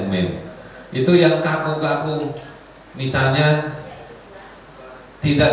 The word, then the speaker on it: meme: Saya kemarin beberapa kali lihat ada meme gitu, meme ya bacanya, tulisannya meme ya, bacanya meme.